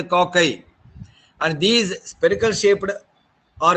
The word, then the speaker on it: cocci: The spherical shaped bacteria are known to the coccus, and singularly, and plurally they are pronounced as cocci.